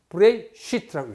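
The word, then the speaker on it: בראשית: 창세기를 히브리 말로 이렇게 쓰고 읽기를 이렇게 읽습니다. 브레이시트라고 읽습니다.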